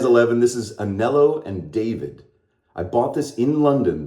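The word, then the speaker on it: Davide: and David or David it looks like d-a-v-i-d-e but they pronounce it David so I looked it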